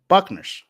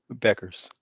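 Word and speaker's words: Paige Bueckers: It was Paige Buckners. I'm saying that right. Correct? Paige Is it who? is Buckners or Buckners? Beckers. Beckers. Okay. See, I said it. I said it wrong twice.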